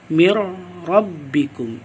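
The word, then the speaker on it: مِن رَّبِّكُمْ: Jadi nun sukun atau nun mati ini dimasukkan ke dalam huruf ra. Mir rabbikum, mir rabbikum. Adapun kesalahan bacanya, yaitu dengan kita memanjangkan bacaan ini.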